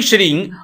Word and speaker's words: श्रीं: हिंग बोलना है। श्री बोलना है। हिम नहीं बोलना। श्रीम नहीं बोलना। यहां पर अनुस्वार में ग का उच्चारण करना है। मैं का उच्चारण नहीं करना।